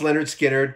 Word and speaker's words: Lynyrd Skynyrd: too I'm flirting with disaster y'all um but pronounced Leonard Skynyrd came out in 73 the the the sophomore